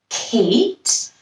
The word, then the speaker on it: Kate: It has a silent E in it. We hear the A saying its name, Kate.